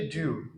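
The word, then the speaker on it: do you: तो जब डू यू को हम प्रोनाउंस करते हैं, उच्चारित करते हैं, तो आप इसे उच्चारित कीजिए ड्यू, ड्यू।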